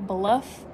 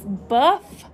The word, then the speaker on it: Buff: a giveaway with buff let me say it correctly because i usually say bluff but it's buff city soap and have you all